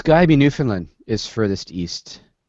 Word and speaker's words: Newfoundland: In Canada, there's this place called Newfoundland. Now, the reason I'm pronouncing it that way is that the CBC